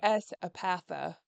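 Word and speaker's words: S. Epatha: Esapatha. Okay. I S take is that. her first initial. Yes. Oh, Yeah. I was going to say, I take that to help me sit. Esapatha.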